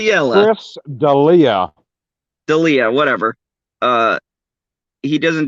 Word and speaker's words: D'Elia: Chris D'Elia.